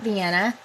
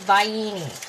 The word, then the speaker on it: Vienna: the water not Vienna Vienna is that word that your dad mispronounces all the time and it drives me crazy by uni he says vayini all the time and I'm like really that's not how it goes it's be enough like